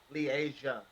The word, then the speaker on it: Leasia: Leasia. Yeah. Like Asia with Lee in front of it. Okay. So LE like a little Right. thing and then Asia.